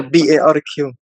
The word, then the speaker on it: Barq: And your Instagram, _, is it Barq? Barq, yeah. Or Barq? BARQ, yes. Yeah. With the but Q, not K.